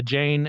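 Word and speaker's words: Jain: own I don't know a Jane and uh j a i n I believe that's how it's pronounced I don't know anyone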